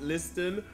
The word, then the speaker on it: Liston: With the folk artist known as Liston. I'm pronouncing that correctly?